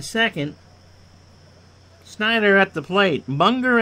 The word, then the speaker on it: Munger: snyder at the plate monger as in hunger i did get it